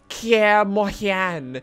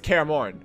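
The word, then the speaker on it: Kaer Morhen: okay so you're not gonna be like it's pronounced Kia Mohan knows it's Kara morn okay it's just straightforward we keep it simple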